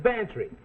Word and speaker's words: Bantry: Bantry come on spell it fancy it sounds like pantry I know gambler Mac